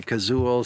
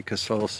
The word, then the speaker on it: Casull: Colt and 454 Castle there are different pronunciations for that some people say kazool some people say cassol but you know what